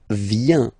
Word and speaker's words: vient: Then il, elle vient. Final T not pronounced. Il, elle vient. Okay.